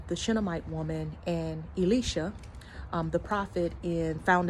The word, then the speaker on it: Elisha: from the prophet Elicia um and I'm saying Elicia cuz I learned that's the correct pronunciation but we are used to saying Elisha but upon one of these visits right um